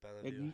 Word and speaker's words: Belleville: I pronounce it Belville. Ignore the second E in the name.